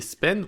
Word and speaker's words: span: Les span, ou span, si on le prononce en français.